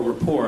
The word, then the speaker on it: Report: Tyson has been a frequent guest on the Colbert Report, or rapport, I guess is the proper pronunciation.